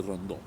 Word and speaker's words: Rondeau: supremo, que era José Rondó. Se escribe Rondeau, por si ustedes no lo conocen como Rondó.